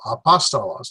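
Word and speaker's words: ἀπόστολος: So there are 4 syllables. A, pa, sta, los. Apostala, apostolos. There's my stress. So apostolos.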